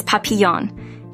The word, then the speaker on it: Papillon: to pronounce papon is papon embracing its French heritage and uttering its name